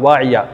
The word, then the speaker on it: Waiyah: Wayah بھی ایک بہت ہی خوبصورت نام ہے، ہجے W-A-I-A-H، Waiyah۔ ایک بہت ہی عمدہ اور منفرد نام، اس